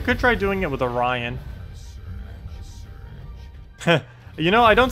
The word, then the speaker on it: Orion: try doing it with Orion you know I don't say or or or orian anymore orian I used to say orian instead instead of Orion I I don't that's